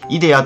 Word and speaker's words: IDARE: 月 27 日に開始したイデアというサービスを紹介します。